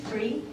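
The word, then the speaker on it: three: Not tree, 3 vegetables.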